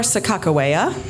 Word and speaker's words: Sakakawea: and Clark expedition which was erected to honor Sakakawea as we sort of slightly more historically accurate depicted pronunciation of her name and as the plaque